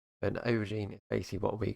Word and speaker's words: aubergine: It's not spelled an O, it's spelled an A, by the way. But an aubergine is basically what we call a eggplant over here.